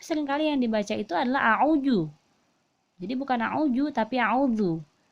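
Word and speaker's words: أعوذ: ini Zoo ya jadi membacanya itu a'udzu Ya zulina kita keluar ya dzal itu makhorijul huruf nya yaitu ujung lidah ke ujung gigi seri atas jadi ujungnya kita itu harus keluar sedikit lu lu bukan juya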